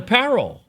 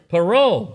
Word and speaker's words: parol: great big giant star the Paro right parole there we go I said it wrong sorry okay so the